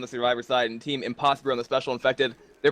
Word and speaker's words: Impossibru: And for those of you who think that we're just pronouncing Impossibru in a very, or slightly racist, pronunciation, it's actually their name. There's an R. It's not impossible. It's literally Impossibru.